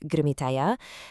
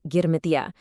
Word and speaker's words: Girmitiya: So, have you ever come across this word, Girmitiyas?